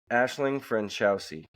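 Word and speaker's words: Aisling Franciosi: Ashling Ashling Ashling Ashling you got to pronounce the G Ashling ashing Fran chowy Ashling Fran chowy cool we'll never remember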